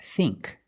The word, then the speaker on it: think: a short I now let's look at the combination of I and K like think we use the long e sound think other words sink